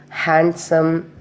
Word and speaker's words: handsome: First one is when it come before N or after N, the letter D is silent. For example, Wednesday, handsome, handkerchief, sandwich, like this.